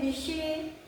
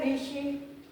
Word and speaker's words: ऋषि: यहां जैसे ऋषि लेकिन हम लोग उच्चारण क्या करते हैं ऋषि ठीक है तो ये ऋषि क्या है ये गलत है हम लोग सही ऋषि कैसे लिखेंगे प्रोनाउंस क्या है ऋषि ये हमारा सही है किशन ये तद्भव हो